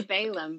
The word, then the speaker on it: Balaam: which is like your Balaam. Am I saying it right? Balaam? I always say it wrong. Balaam. I don't know. I say Balaam, but I don't know. Yeah, it is Balaam.